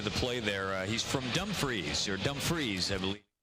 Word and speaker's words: Dumfriesshire: Mackenzie got into the play there he's from Dumfriesshire Dumfries Emily correct pronunciation I was a lucky enough to be